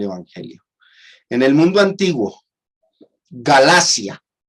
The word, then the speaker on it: Galacia: En el mundo antiguo, Galacia, no galaxia. Yo he visto algunos cuando leen el texto de 1 Corintios 16, decir, así como ordené a las iglesias de Galaxia, pronuncian mal, no es Galacia con C.